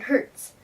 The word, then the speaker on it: hertz: the way frequency is measured in hertz pronounced Hertz and written HZ so higher frequency makes